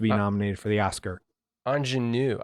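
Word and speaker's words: Aunjanue: nominated for the oscar anjanu i think it's ingenue yeah we were looking it up yeah and that's how they were pronouncing it but i yeah that's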